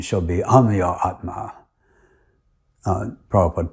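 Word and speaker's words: Amyatma: call it am Atma my name is spelled a m y a t m and everyone else uses the Sanskrit pronunciation and calls me Aatma but shil pra has Bengali accent and he pronounced it as am adding an o in the middle during my initiation serm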